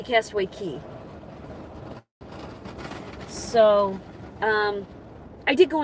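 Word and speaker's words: Castaway Cay: It's I say Castaway K and it's spelled C A Y, but it's supposed to be Castaway Key.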